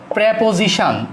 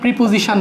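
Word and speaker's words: preposition: প্রেপোজিশন, এটা উচ্চারণ প্রিপোজিশন না, প্রেপোজিশন।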